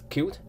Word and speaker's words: Qt: GUI development framework uh it can pronounce q or c and there are two reasons that we choose uh cute one is it is